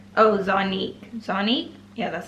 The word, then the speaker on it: Zonique: Oh, Zonique, yeah, that's how you say her name.